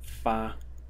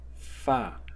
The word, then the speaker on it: 發: The first one is fa in the first tone, and the second pronunciation is fa in the fourth tone.